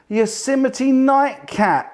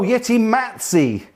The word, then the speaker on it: Yeti Matzi: And I think I just saw Yosemite Nightcat. Yes. I think that's how you pronounce it, is it? Yeti. Oh, Yeti Matzi. Yeti Matzi. I've always been saying your name wrong.